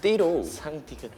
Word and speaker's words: D-RO: Was it because of D-RO? D-RO pronounced as DD-RO, double D D-RO!